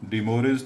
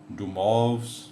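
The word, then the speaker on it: de Moivre: Raise to n using डी मोरिस theorem, जिसका correct जो pronunciation है डुमॉव्स थ्योरम है, तो वो ज़रा टिपिकल है। तो आसानी के लिए आप डी मोरिस थ्योरम ही पढ़ा करें, उसके मुताबिक हमारा जो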